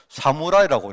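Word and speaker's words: 侍: 그래가 이걸 일본 사람은 어떻게 읽느냐, 이걸 가지고 이 한자를 사무라이라고 읽어요.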